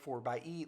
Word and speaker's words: 4xe: It's spelled 4xe, but Jeep wants you to say 4xe like 4x4.